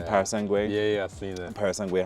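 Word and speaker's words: Purosangue: Parasangue, how you're supposed to pronounce it.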